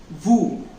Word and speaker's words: vous: And you in plural form in English, that we need to pronounce it in French as vous. It spells V-O-U-S, but we need to tell it as ou.